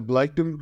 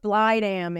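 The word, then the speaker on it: Blegdam: And that was that the Bleikdam Hospital? Yeah, it's actually pronounced Blydam in Danish. So, trying not to offend any Danish listeners, but it's spelled as we would say Bleikdam.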